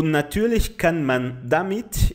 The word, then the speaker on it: natürlich: Aqui o nosso ouvido não é muito preparado para isso, então o brasileiro escuta, natürlich, ele acha é mais fácil falar como se fosse um I, mas ele não é pronunciado como se fosse um I.